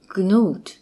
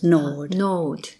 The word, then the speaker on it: gnawed: The owner of one scant young nose, gnawed. It's a silent G, so it's gnawed.